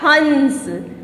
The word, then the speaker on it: हंस: ह के ऊपर अगर ये अनुस्वार हटा देंगे तो कैसे उच्चारण होगा उसका? हस। क्या हुआ? हस। लेकिन अगर ये अनुस्वार मैंने यहाँ पे लगा दिया, ये बिंदी यहाँ पे लगा दी, तो क्या हो गया? हंस। देखो कितना फर्क है हस और हंस में, ठीक है।